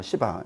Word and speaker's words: 시바: 두 번째, 다윗이요, 도망가는데 이때 누가 쫓아오냐면요, 시바라고 하는 놈하고, 발음 잘못하면 안 됩니다. 시바지, 세게 하면 안 돼요. 시바.